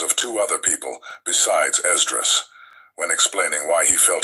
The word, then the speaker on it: Esdras: Now let's talk about Esdras. Esdras' writings can be found in all modern Bibles today under the name Ezra. Esdras is just the Greek pronunciation of the name.